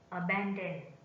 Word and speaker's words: abandon: Abandon. Abandon. Abandon is a verb, is stressed on the second syllable.